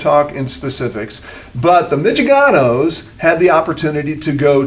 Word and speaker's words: Mitchaganos: Yeah, is that how you say it? Yep, the Mitchaganos. Mitchaganos, yes.